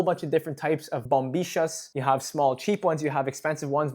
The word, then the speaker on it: bombilla: Now in Argentina, this is called a bombisha. Now remember in Argentine Spanish, the majority of the time the double L and the Y are pronounced as sh, right?